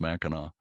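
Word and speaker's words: Mackinaw: It's all pronounced Mackinac, which is an odd way to pronounce something with a C on the end.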